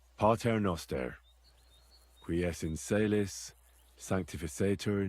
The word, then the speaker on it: Pater Noster: You're saying it wrong. Listen. It goes like this. Pater Noster, qui es in celis, sanctificetur nomen tuum.